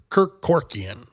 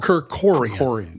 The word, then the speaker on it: Kerkorian: of your time, probably remember the character Kirk Kerkorian. Oh yeah. Yep. Wow, that takes me. I haven't thought of that name in a long time. Or I'm sorry, Kerkorian. Kerkorian, yeah.